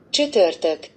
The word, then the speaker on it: Csütörtök: But I think shutortok. Ooh, that's good. Yeah, good try. Shutortok. Shutortok. You pronounce it like shoe, but you know, I think I'm gonna give a point for you for this one, right?